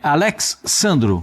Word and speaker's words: Alex Sandro: E aí, como é que se pronuncia mesmo, Pascoal? Alexandro, como é que é? É Alex Sandro.